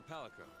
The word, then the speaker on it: Palico: Let's start by looking for your Palico. Palico. That's how you pronounce it.